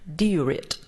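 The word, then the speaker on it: Dia duit: Diurit.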